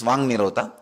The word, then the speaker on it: Vak Nirodha: Vak Nirodha only, when you pronounce it becomes Vang Nirodha.